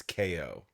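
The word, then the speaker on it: Kao: get it twisted audience it's spelled k-a-o but it's not cow with a kangaroo it's KO you pronounce his name KO the kangaroo because he's Gonna Knock You Out okay so I'll be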